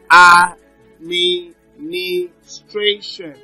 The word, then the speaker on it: administration: that's the five syllable Administration now so the stress is on stration it's Administration so we have authenticity